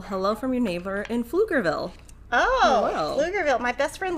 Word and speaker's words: Pflugerville: Because, you know, Pflugerville's written with a PF. Uh-huh. Yeah. So then there's like little jokes everywhere there that for things that are pronounced just with an F, like Pflugerville is, but it has an extra right.